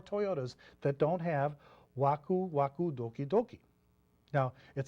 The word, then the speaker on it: Waku Doki: of that uh how about okie dokie what's wakudoki and doki is a new product buzzword that's